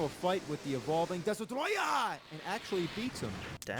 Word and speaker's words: Destoroyah: The name of the monster, surprisingly, isn't Destroyer. Oh, it's isn't it? Destoroyah!